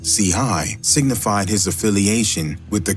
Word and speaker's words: Chii: an LA neighborhood while C hii pronounced CI signified his affiliation with